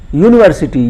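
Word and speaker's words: university: अंग्रेजी में 4-5 स्वर होते हैं, ए ई आई ओ यू, तो यू स्वर है, वॉवेल है, लेकिन इसका उच्चारण किससे हो रहा है? यूनिवर्सिटी, यू यू या से हो रहा है, यह व्यंजन है, कॉन्सोनेंट है, इसलिए ए यूनिवर्सिटी हो गया।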